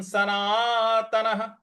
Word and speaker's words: सनातनः: लोयम सनातनाह, सनातनाह; 'ना' के बाद आने वाले विसर्ग का उच्चारण 'हा' की तरह होना चाहिए क्योंकि इसके बाद कोई अक्षर नहीं है।